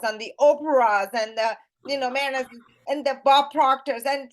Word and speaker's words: Mehrnaz: So it's Mehrnaz. The Z is pronounced actually. Oh, is it Mehrnaz?